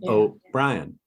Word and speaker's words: O'Brien: because I call him oh Ryan everybody calls him O'Brien I call him oh Brian so I kept looking